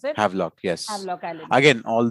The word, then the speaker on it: Havelock: So all of these things were, that's how you pronounce it? Havelock, yes.